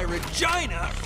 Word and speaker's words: Regina: Oh, that's why Regina rhymes with fun.